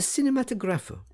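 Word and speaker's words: Kinematograph: the kirkhaus in the cinematographer yeah sitting braini gave the word the Italian pronunciation with the accent on the fourth syllable and afterwards in the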